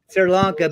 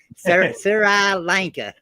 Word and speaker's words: Sri Lanka: and that would be Sira Lanka sir alanka is correct Sri Lanka but if somebody read it off Google they would say Sarah Lanka there's some nice Tree Sri Lanka yeah Sri Lanka all